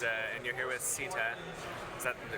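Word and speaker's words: SITA: And uh and you're here with Sitta. Is that the correct pronunciation? Yep. Sitta.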